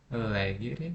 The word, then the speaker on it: legere: Então, a tônica recai aqui sobre a minha antepenúltima sílaba, né?